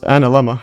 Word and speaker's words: analemma: And here's the pronunciation of it. Let's see this. Anma. Yeah. So, it's analemma.